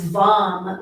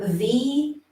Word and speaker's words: VAM: The seed syllable here is VAM, V-A-M, VAM.